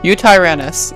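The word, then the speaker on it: Eotyrannus: I don't know how to say that. Eutyrannus. Eutyrannus. Yeah, that's how you say it.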